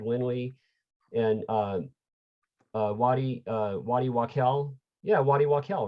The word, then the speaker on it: Waddy Wachtel: Yeah, Waddy Wachtel, right?